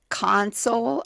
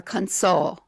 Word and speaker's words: console: It's these words when pronounced with the accent on the first syllable, the words are nouns. When pronounced with the accent on the second syllable, the words are verbs.